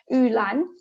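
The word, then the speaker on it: 玉兰: favored in traditional garden is because it's the pronunciation of its name so it's name in chinese pronouns as ulan so u means jade and lan means orchid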